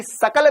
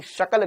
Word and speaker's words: शकल: शकल बेंगन जैसी है तेरी सकल बेंगन जैसी नहीं है तेरी शकल बेंगन जैसी श शक्कर का स सपेरे का यहां लिखा है सपेरे